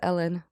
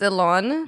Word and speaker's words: Elon: you pronounce his name Oh I thought it was Ellen Ellen musk wait really it's Elon Elon yeah yeah Elon okay